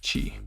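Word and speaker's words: ち: next up we have the kana that looks like a man whose mouth is open and he bit his cheek what could this be chi good job next up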